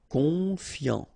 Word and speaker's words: confiant: Confiant, okay, final T not pronounced, so O-N, on, I-A-N, ian, confiant, confiant.